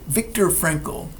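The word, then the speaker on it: Viktor Frankl: Although an older book by Vic Victor Frankle, I'm going to spell it because it's not the way it sounds.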